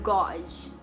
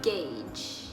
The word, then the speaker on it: gauge: Nomor 12, gue dulu nyebut ini itu gauge, karena menurut gue kayak gauze gitu kan. Cuman ternyata cara nyebutnya aslinya adalah gauge.